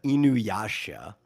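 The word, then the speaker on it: Inuyasha: Uh, Fitz Shoozo says Inuasha. I probably pronounced that completely wrong, but it's pronounced uh Inuasha.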